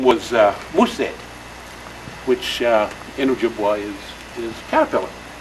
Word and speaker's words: Mosay: And he said, no, it's Mosay.